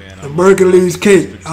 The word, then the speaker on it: Merkules: Merkules is spelled M-E-R-K-U-L-E-S, like Hercules, but with an M and a K instead of H and a C.